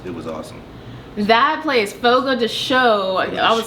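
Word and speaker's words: Fogo de Chão: can say one restaurant Fogo de show is that how you say yes what me and my husband been there twice so it's what my husband Dante Hancock we've been saying it wrong this whole time this is my favorite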